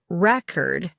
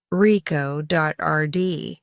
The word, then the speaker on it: record: For example, in the word record, the stress is on the first syllable when used as a noun, reco, rd, but the stress shifts to the second syllable when it's used as a verb, rico.rd.